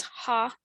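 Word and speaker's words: 蝦: sounded like good business the cantonese pronunciation for shrimp which is ha was um you know sounds like happy laughter and is therefore often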